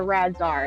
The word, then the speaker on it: RAADS-R: Yeah, Yeah, it's called the RADS-R. It's spelled RAADS-R.